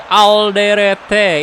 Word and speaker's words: Alderete: Ini bacanya kayak gimana, boy? Alderete atau Alderet gitu. Halo Michael Krisna. Welcome, welcome. Baik bro kabarnya. Alhamdulillah. Indonesia udah ada apa tuh? Udah ada darurat takabur. Alderet, oke bacanya Alderet ya.